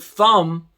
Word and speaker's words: thumb: and the t that when they see the word thumb that it's not going to be that um and of course the b is silent there's all kinds of